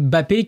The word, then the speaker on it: Mbappé: Mbappé sur le il faut pas prononcer le M sur le réseau X.